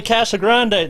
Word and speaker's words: Casagrand: it's uh oh man my name gets butchered all kind of all kinds what whatever you heard uh casa grande is a very frequent one because uh when you actually read my name it's c-a-s-a-g-r-a-n-d and a lot of people when